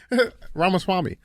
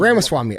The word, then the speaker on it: Ramaswamy: Did I say it wrong? What is it? Ramaswamy. What'd I say? You said like something like a little like that was Ramaswamy.